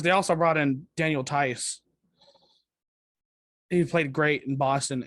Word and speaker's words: Tice: I thought it was Thies. I think I heard it pronounced Tice. Like I'm butchering these names. I don't even care, but I'm pretty sure it's pronounced Tice.